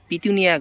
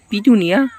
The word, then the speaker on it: পিটুনিয়া: সেটা হচ্ছে স্যারনিয়া গাছ আমি বলছিলাম পিতুনিয়া গাছ কিন্তু আসলে বিটুনিয়া যেটা বলেছিলাম ওটা উচ্চারণে ভুল হয়েছে আমার তার জন্য ক্ষমা প্রাপ্তি আপনাদের কাছে এটা হচ্ছে পিটুনিয়া আর এটা যেটা দেখতে